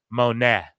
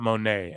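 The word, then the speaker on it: Moné: so her name if it's spelled that way is Mercedes Monet not Monae and I don't know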